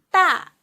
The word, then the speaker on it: 大: 大的 a with fourth tongue, 啊的 a 大的 a 大大大 means big.